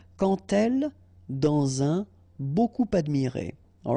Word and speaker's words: quand: So like that, quand elle, all right, same rule here. Remember, when you will have this D, you will phonetically pronounce it like T.